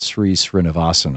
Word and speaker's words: Sri Srinivasan: And a few months ago, President Obama successfully appointed Sri Srinivasan, I believe is how his name is pronounced, to that court.